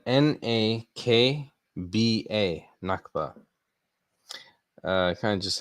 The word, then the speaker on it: Nakba: spelling for you so this is um it is spelled n a k b a nakba uh kind of just like how it